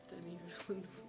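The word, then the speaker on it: Denis Villeneuve: Denny Villanu. Okay. You know that is it's spelled not that.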